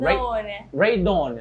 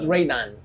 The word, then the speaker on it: Raydon: How does he pronounce his name? Raydon, not Raydan. No, not right Okay, now.